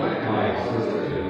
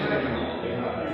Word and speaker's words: Mackinac: on this unique island, we thought it was Mackinac, but we were informed that the correct pronunciation is Mackinac, as it is the French derivation of the original Indian name.